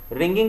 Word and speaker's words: wring: Meghnad subscribe रिंग थे रिंग का मतलब यहां पर डब्लू साइलेंट है रैगिंग का मतलब यहां